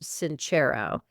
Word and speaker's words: Sincero: I think you pronounce it Sincero.